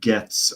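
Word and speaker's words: Goetz: Urban tells us that it's pronounced Getz, apparently. I read it wrong.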